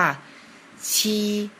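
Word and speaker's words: 七: นะ ครับ เลข 7 ภาษา จีน อ่าน ว่า ชี เริ่ม เขียน จาก ขีด ตรง กลาง ก่อน นะ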